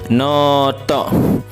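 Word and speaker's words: ノート: terakhir Note Hai yapdi panjang dibaca Onya ya Noto ya Noto itu alias buku catatan ya buku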